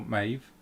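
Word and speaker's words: Medb: some information shay about queen um meb or maeve as it's pronounced um they spelled spelt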